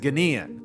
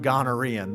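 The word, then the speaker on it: Ghanaian: was underway for the young naturalized Ganan that's how you say it it's not garan though I wish I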